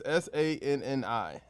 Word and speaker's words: Sanni: It's SANNI. Say it however you want to say it. Go for it. SANNI. There's no I after that. SANNI. Give it a shot. Sanny.